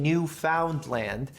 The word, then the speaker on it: Newfoundland: new fee is a Newfoundland and I know it sounds like I'm saying New Finland but I'm saying Newfoundland in a way that